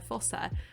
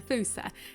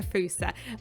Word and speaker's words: fossa: uh uh it's spelled f-o-s-s-a right so you think oh it's a fossa bed it's not it's a foosa uh because it's not an english word i think um but